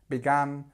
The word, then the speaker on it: began: it go back practice try the different ways of saying it begin began begun because a are very similar it depends where your what your first language is but make sure you get the differences because a began begun